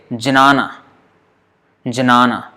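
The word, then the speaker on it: jñāna: So there is a kind of G kind of sound.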